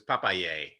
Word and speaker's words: Papailler: like Popeye the Sailor Man, and yay! So it's Papaye, and it's from Oh. the papaya, so it directly translates to papaya.